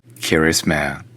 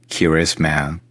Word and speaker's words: Kiritimati: The nuclear test Naka is referring to happened on the other Christmas Island, now officially named Kiritimati. The name of the island is pronounced Kirisman. Kirisman.